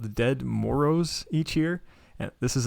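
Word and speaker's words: Ded Moroz: Speaking of weird traditions, have you guys heard of Dead Moros in Russia? What? Dead, so it's spelled D-E-D, and then that's one word, and then Moroz, M-O-R-O-Z.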